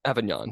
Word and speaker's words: Avignon: Am I pronouncing that Avignon? Avignon, yeah.